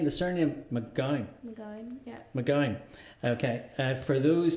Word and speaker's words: McGown: I'd probably say McGowan. See, now hold on, because this could really start, you know, fisticuffs going over here. McGowan. McGowan. But is there an A in it?